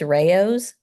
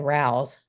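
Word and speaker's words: Rao's: I actually looked up how to say it and I got two different responses. One of them said it's Rayo's and then one of them said Rouse, but it's RAO apostrophe S.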